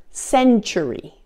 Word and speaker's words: century: Now there are also a few other common words where the T is pronounced as CH as well. For example, the word century, the word statue, situation, and the word fortune and its related forms.